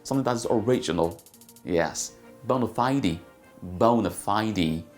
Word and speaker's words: bona fide: People say bona fide. It's a bona fide candidate. It's a bona fide person. It's a bona fide situation. Okay, how is it pronounced correctly? Say bona fide. That was not funny. Bona fide. Bona fide. Bona fide. Bona fide. Bona fide. Or you can say bona fide.